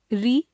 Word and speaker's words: ऋ: संस्कृत में री का उच्चारण स्वर के रूप में होता था, पर हिंदी में री का उच्चारण स्वर के रूप में समाप्त हो गया है। हिंदी भाषा भाषी लोग इसका उच्चारण र जमा ई री के रूप में करने लगे हैं। इस तरह हिंदी में रितेश तथा ऋचा शब्दों की पहली ध्वनि के उच्चारण में कोई अंतर नहीं रह गया है।